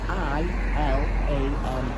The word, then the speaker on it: Ilam: No, it's I-L-A-M. It's pronounced Ilam.